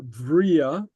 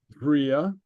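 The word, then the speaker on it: bhrèagha: Oh, hi, Bria Anshin. Yeah. And that's pronounced with a V, Vria. Vria, because it's lenited, so it's Vria anshin, there, anshin, okay?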